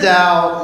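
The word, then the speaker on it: Tao: with the teeth not a D but it's pronounced with the dow was a short body of writings written by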